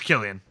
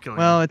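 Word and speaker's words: Cillian: pretty sure it's San it's Killian he calls himself Killian it's two to one bro okay you're probably right two wrong people to one right person I've actually researched how to pronounce his name so we still have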